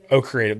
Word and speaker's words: O Creative: Pronounce, is it O? O Creative. That's how you say it.